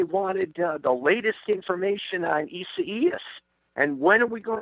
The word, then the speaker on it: Isaias: Isaias is this one's name. And I had to really work on the pronunciation, but I've got it down phonetically now. So Isaias it is.